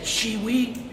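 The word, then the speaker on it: Schiewe: my name is you say it shiwi and it's spelled s c h i e w me that's all I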